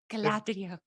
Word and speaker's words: Galadriel: No, you didn't pronounce it right, Dan. Galadriel.